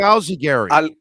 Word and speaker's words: Alzugaray: So what is the pronunciation? The real, like, really, mine is that Alzugaray. But I Americanized it to make it easy for people because they struggle so much with my name.